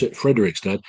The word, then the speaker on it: Fredrikstad: It sounds like Frederick's dad, but it's pronounced Fredrikstad in Norway.